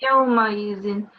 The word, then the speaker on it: يومئذ: It's not ya, it's just simply yaw. Okay. Yawmaizin.